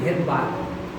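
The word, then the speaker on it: Svedberg: তো রাইবোসোম সম্বন্ধে কাজ করেছিলেন হচ্ছে বিজ্ঞানী ভেদবার্গ। ভেদবার্গের নাম শুনেছেন না? হ্যাঁ, ভেদবার্গের বানানের আগে এস কথাটা আছে, উচ্চারণ হয় না, ওটা সাইলেন্স আছে, তাহলে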